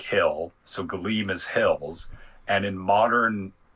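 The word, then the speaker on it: Gallim: you would pronounce it galim because it's g a l l i m so it might be a combination of the hard a and the soft a like galim but uh what that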